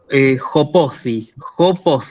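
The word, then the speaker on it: ὁπόθι: Y acá tenemos una palabra que es, digamos, un poco extraña, que es jopothi, así la pronuncio, ¿sí? Fíjense que empieza con espíritu áspero, jopothi.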